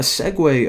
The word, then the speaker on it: segue: to whenever they click the button now a segue of course that's how you pronounce that word actually didn't even know I